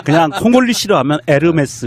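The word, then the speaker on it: Hermès: 아 그냥 홀리 싫어하면 에르메스 입니다 이렇게 지욱 발음이 안 난다 면서 요금이 에서 h 가 발음이 안 되니까 우리가 운무 도 호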